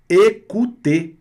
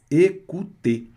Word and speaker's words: écouter: A vogal E com acento agudo, som de E, fechado. O mais U, som de U. Terminação ER, som de E. Écouter.